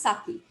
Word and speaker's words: Sacchi: you would write saki so don't get confused by seeing that h it's just pronounced saki so pietro da cortona